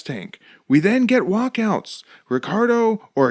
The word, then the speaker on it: Ricardo: We then get walkouts, Ricardo or Ricardo, as Quadros lets us know. He is Ricardo Arona, and it's actually spelled Ricardo, but the Brazilians pronounce that R with an H sound.